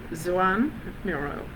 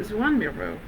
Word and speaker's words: Joan Miró: He was born in Catalonia, and he would have pronounced his name a bit like this, Joan Miró. So Joan Miró, we're learning.